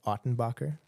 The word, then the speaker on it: Ottenbacher: the podcast I'm joined today by f ottenbacher i pronounced that correctly absolutely all right a born